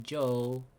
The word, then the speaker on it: Job: Okay, so after that will be Joe. Okay, So you pronounce Joe is not Job. Joe. Yeah, it's just that the B is silent. Job.